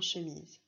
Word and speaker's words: chemise: On entend bien Z dans chemise, qui s'écrira avec la lettre S, comme dans valise.